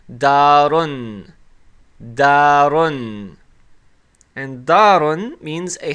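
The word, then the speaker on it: دارٌ: And when we pronounce it with the Damma Tanween, it's going to be pronounced as darun.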